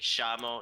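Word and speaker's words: llamo: So like shamo instead of like posho.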